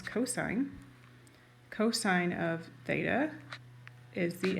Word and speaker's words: cosine: Ca is the cosine, which we abbreviate COS. It's not cos, it's cosine.